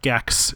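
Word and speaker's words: GECS: from college uh called gekks g-e-c-s pronounced like the classic playstation one character and we uh go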